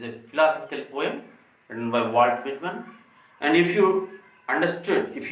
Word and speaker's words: Walt Whitman: Generally, most of the students and most of the teachers, while they are using the pronunciation Walt Whitman, so it's wrong pronunciation, we have to use like this, Walt Whitman.